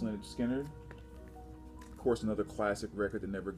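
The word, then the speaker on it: Lynyrd Skynyrd: time third piece here leonard skinner pronounced lynch skinner of course another classic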